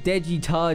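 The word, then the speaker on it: Daechwita: just what it means at rhymes with dead guitar but um it does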